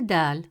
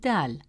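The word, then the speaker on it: دال: It's a light and soft sound made at the front of the mouth. Example, the word d which means stairs begins with dal.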